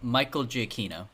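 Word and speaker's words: Giacchino: And it's that Mike GCino, is that how you say his name? Michael Jino.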